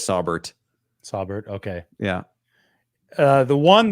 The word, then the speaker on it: Sauber: It's pronounced Sauber. Maybe you've been saying it right, but I've been saying it wrong. I've been saying Saubert.